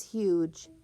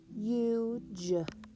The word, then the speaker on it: huge: That silent E makes that vowel U say its long U sound. U, unicorn. The word is huge. Huge, huge.